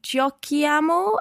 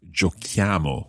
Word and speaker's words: giochiamo: c h i amo exactly that h is needed in the written form because of the k sound we need to keep the giochiamo and therefore